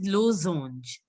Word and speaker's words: losange: First of all, it is losange. Since there is a single S, it has to be pronounced as Z.